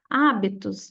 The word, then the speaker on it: hábitos: tá errado por quê hábitos ó a sílaba mais forte é onde tá o acento que é o a então aqui a gente